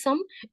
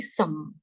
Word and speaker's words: sommes: Why this is some? S is for making it plural, no sound. E is the last letter, no sound. Okay, when you add S something to make it plural, that word, that S is not pronounced.